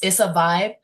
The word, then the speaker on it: Izza Vybe: So, it's spelled I Z A V Y. It's a vibe.